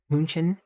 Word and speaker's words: München: Not Munich. Not part of German. Try to say München. I know. That's what I'm saying is I say it wrong in my mind.